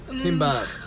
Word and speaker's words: kimbap: It rhymes with bibimbap. The Hanson song. Kimbap.